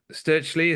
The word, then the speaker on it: Stirchley: from Birmingham aren't you from Grace Church uh sturley am I saying that correctly that's right yeah